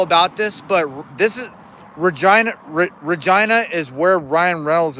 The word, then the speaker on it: Regina: "Yeah, it's pronounced Regina."